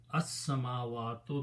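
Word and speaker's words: السماوات: And when you recite, sin is a shamsi letter, it kills the sound of lam, so you don't pronounce lam but pronounce sin twice, so this will become as.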